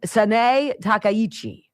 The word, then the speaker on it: Sanae Takaichi: had to actually go and get a phonetic pronunciation. Her name is Sanae Takaichi.